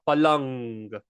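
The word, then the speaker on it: પલંગ: So when we have a g after the mindu, it is pronounced ng, palang, rang.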